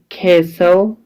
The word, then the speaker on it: castle: That is an old castle. That is an old castle. درنو زده کوونکو دلته په کیسل کې له اس څخه مخکې ټي راغلې ده، دلته ټي سایلنټ ده او ال تلفظ کیږي.